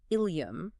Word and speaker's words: ileum: So ileum with an E is the gut, and ileum with an I is the hip bone. Exactly. But they are pronounced exactly the same.